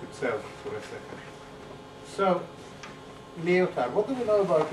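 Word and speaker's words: Lyotard: for a second so leotar what do we know about leotar the D is silent I'm told that I'm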